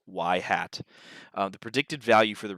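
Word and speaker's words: ŷ: The predicted value is also known as y hat. That's how this is pronounced, y hat.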